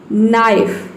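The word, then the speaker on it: knife: एन आया है, तो इसमें हम के को प्रोनाउंस नहीं करेंगे। उसी तरह से यहाँ पे देखिए नीड, नी, नाइफ, नॉक, नॉलेज, तो इन सभी में क्या आया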